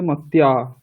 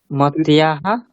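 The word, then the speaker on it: মত্যাঃ: তাহলে বিসর্গটা উচ্চারণ করো। মত্যাহ মত্যাহ। হ্যাঁ, কারণ তৃতীয়াতেও মত্যা হয়। তুমি বিসর্গ না উচ্চারণ করলে ওটা তৃতীয়া হয়ে যাবে।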